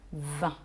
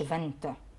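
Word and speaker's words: vingt: وبعدين بقى اخر حاجه 20. عندي رقم 20 الجي في الاخر والتي مش بتتنطق، فبقول 20 ما بقولش فانت.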